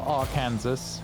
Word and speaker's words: Arkansas: Or Arkansas, as it should be pronounced.